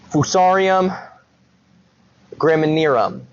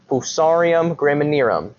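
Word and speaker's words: Fusarium graminearum: The fungus, and I'll try to pronounce this correctly. Fousarium grammanum. Fousarium grammanum is my interpretation of the pronunciation of this fungus.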